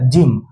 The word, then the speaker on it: gym: अब एक वर्ड को देखते हैं GYM, यहाँ पे जी के बगल में क्या है? वाई है, IEY। अच्छा वाई है, अगर वाई है तो यहाँ पे जी का उच्चारण जौ से हो जाएगा, तो इसलिए ये क्या हो गया? जिम।